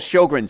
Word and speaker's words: Sjogren: sign of immune system problems there's something called sjogren's syndrome now if you've ever seen it spelled it's s-j-o-g-r-e-n it's pronounced sjogren and your immune system dries up